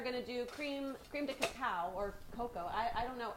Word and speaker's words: cacao: We are going to do cream de cacao or cocoa.